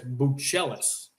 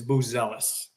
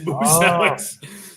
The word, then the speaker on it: Buzelis: know, AK, that his last name should be pronounced properly as Buchellis from the motherland. Yeah, told me don't listen to AK. Don't let it's Boozelis. It is Boozellis.